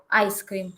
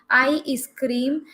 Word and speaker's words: ice cream: um pay attention here i'm not getting any kind of e sound before s yes before the s sound so if you are pronouncing it as i scream please stop there and please just concentrate on this cream part only keep on practicing the